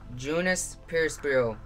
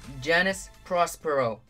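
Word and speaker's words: Janus Prospero: So that's how you pronounce it.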